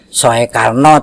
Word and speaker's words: Soekarno: lain itu ada Soekarno Ini penulisannya masih pakai ejaan lama ya Soekarno tapi membacanya Soekarno kemudian ada Raji'un yaitu